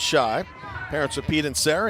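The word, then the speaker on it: Schaich: next spells his name last name s-c-h-a-i-c-h pronounced shy parents are pete and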